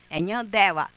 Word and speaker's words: Nhandewa: for us he is an indigenous person who we say nhandeva, nhandeva is not nor nhandeva is Nhandewa [emphasis on pronunciation].